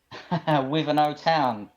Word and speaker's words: Wivenhoe Town: Is that Wivenhoe Town? Is that how you say it? Wivenhoe Town.